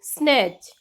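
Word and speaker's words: snatch: Silent T, किसी भी word में T के बाद CH आए तो T साइलेंट रहता है। Like वॉच, स्नैच, बैच, मैच, इन सभी वर्ड में T के बाद CH आ रहा है, इट मीन्स कि हम T की आवाज नहीं लेंगे, T को साइलेंट रखेंगे, सीधा ही बोलेंगे वॉच या फिर स्नैच, बैच या फिर मैच।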